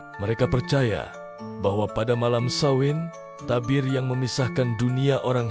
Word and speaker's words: Samhain: Mereka punya sebuah festival kuno yang sangat penting, namanya Samhain Cara, bacanya Samhain.